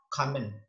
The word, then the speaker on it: common: O di sini tidak terdengar, tidak dibaca o, tapi dibaca e. Kalau di sini O-nya dibaca A, kalau O yang kedua dibaca E. Jadi sama-sama O, tapi cara bacanya beda.